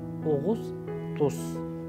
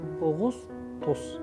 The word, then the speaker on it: أغسطس: And you see how August, the month of August, is أغسطس. أغسطس. This is the pronunciation.